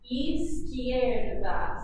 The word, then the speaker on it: izquierda: So that E makes a sound, and the Q is making a sound. Izquierda.